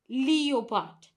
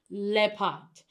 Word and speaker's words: leopard: Now, most times people pronounce it as leopard, which is very incorrect. Now, the correct pronunciation of this word is leopard, because the is substituting this letter E-O. So it's not leopard, it is pronounced as leopard.